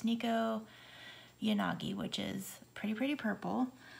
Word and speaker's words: Nekoyanagi: I had never really looked up the pronunciation, but it's Nekoyanagi, which is pretty, pretty purple.